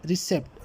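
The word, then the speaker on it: receipt: Silent letter क्या है, silent letter इसमें पी है, ठीक है, और पी रिसेप्ट, यहाँ पर जो है रिसेप्ट पढ़ा जाता है, पी इसमें यूज़ नहीं है, तो option number B इज़ the correct answer.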